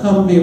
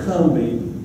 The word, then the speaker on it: Combahee: Half of it went up to the Cumbie River. it's written Combahee, but you gotta say it Cumbie, or everybody will know you're not from here.